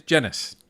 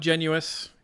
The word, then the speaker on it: Genis: It is Genis. Ah, okay. So it's not Genuous. It is Genis.